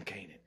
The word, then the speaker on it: Canaan: So I say some people that just do Canaan. I'm a rhyme Canaan and aiming and the banger and I slamming and I came in. Nah, I'm gonna do Raising Canaan. I'm gonna do both syllables, Raising Canaan.